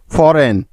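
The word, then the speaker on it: foreign: ডিজাইন ডি ই এস আই জি এন ডিজাইন ফরেন এফ ও আর ই আই জি এন ফরেন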